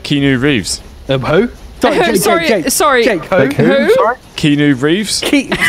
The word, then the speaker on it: Keanu Reeves: Is that actually how you pronounce his name? Keanu Reeves. It's Keanu Reeves.